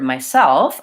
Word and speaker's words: myself: I'm saying the word myself I want to have second syllable stress so I'm going to show